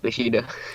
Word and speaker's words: Bushido: pronounced Bushido.